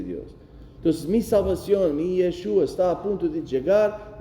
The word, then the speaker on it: Yeshua: Aquella palabra en hebreo para salvación, Yeshua. Jesús, ¿saben cómo se dice? Yeshua.